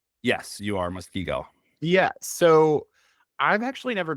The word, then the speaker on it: Muskego: Yes, you are Muskego.